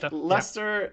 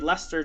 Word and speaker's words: Leicester: he said he said lester and i was like wait what that's how you say it like it doesn't it's got like 17 letters in it and it's pronounced lester so my point is